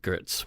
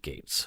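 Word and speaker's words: Getz: interesting I some people might pronounce ounc it grits but he pronounced it Gates okay Jennifer looks stressed from the beginning again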